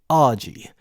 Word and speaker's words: Arji: Growing up in England meant using the name Arji, pronounceable, slick, simple, a name I coined with a helpful rhyme, Arji, like Arji Barji.